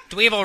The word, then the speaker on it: Dweevil: Dweevil rhymes with evil, which is bad.